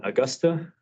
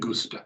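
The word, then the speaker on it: Agusta: So, while we're waiting on them, they dispatched the bird, which Matthew would call an Augusta. It's an Austa.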